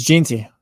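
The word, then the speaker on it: Jeanty: how to say his name Genty so it's Jey Jey yeah that's like that's one where like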